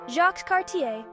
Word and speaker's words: Jacques Cartier: Jacques Cartier, pronounced Jacques Carti, explored the St.